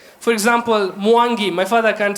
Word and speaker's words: Mwangi: For example, Mwangi. My father can't say Mwangi. You know, the Mwa and the Ngi. You know what I'm saying, yeah? You can't say Mwangi, yeah?